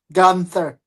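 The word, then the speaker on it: Guenther: Gunther.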